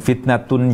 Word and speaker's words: فِتنَةٌ: kata koirun dan fitnatun jadi koirun dan fitnatun yang berakhiran dengan tanwin tanwinnya tidak dibaca tanwin Itu adalah huruf nun bersukun yang diucapkan tapi tidak ditulis jika kita tidak membaca